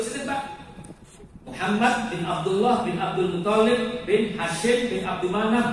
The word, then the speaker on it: Abdul Muttalib: Saya lagi Abdul Muthalib, bacanya jangan dulu Pak nggih. Toknya dua.